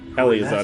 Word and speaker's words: Elazar: Elazar is how you pronounce it activities months ago.